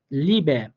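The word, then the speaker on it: Liebe: ই এর রুলস আমরা কি পড়ছিলাম, যে ইটা যদি আমরা কোনো শব্দের শেষে পেয়ে থাকি তখন শুদ্ধ বা সুন্দর উচ্চারণের জন্য আমরা ইটাকে একটু হালকা এর মতো করে উচ্চারণ করব।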